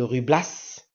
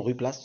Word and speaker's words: Ruy Blas: quant au personnage même de rublas pardon rlace ça se prononce ainsi il a été nourri